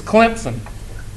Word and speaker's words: Clemson: It's Clemson. Clempson.